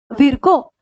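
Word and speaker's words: Virchow: कौन है वो, रुडोल्फ विर्को। रुडोल्फ विर्को बोले या विर्चो बोले, आपको जो प्रोनाउंसिएशन करना है।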